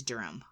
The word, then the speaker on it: Durham: though Durham Durham Durham Durham uh but it's darum darham yeah yeah uh the next one is